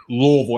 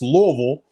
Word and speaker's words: Louisville: idea what you're saying louisville and that's exactly it you have to say it like you have a mouthful of louisville louisville is how you say it just a mouthful of stuff can i just say